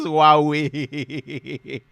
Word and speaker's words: Huawei: The pronunciation says Huawei. The Chinese people, did I try? Huawei.